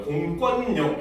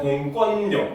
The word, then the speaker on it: 공권력: 돼요 알겠죠 왜 그러느냐 공을 빼 버리면은 권력이라고 유마가 일어납니다 알겠죠 근데 공이 붙으면 유마가 안 일어나고 비화가 일어나 거요 공권력 이렇게 돼요 그래서 공을 빼면 권력 근데 공을 집어넣으면 공권력 이렇게 됩니다 알겠죠 그래서 공이